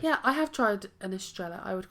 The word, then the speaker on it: Estrella: I'm sort of trying to learn Spanish a little bit, and I'm sort of learning that 2 L's is usually pronounced yeah, rather than la.